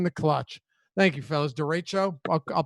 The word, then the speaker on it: derecho: coming through in the clutch thank you fellas derecho i'll pronounce it that way that's what it is